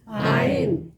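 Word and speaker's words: עין: 아인. 아인. 여기 아인에서 이게 이제 그 우리는 아인이지만 아랍어에 쓰는 이거를 가인이라고 그럴 거예요.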